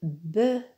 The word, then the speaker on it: bœufs: Attention, pour le mot œuf et bœuf au pluriel, le F ne se prononce pas. On dit un œuf des œufs. Un bœuf des bœufs.